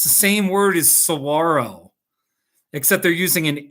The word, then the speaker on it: saguaro: So it'd be no, like when you say saguaro, if you just take the O and you make it an ITA, it'll be Sahuarita, you know?